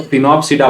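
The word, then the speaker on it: Sphenopsida: तीसरा जो होता है इट इज स्नोप्सिडा, इसमें आपको एस साइलेंट है तो फिनोप्सिडा बोलेंगे।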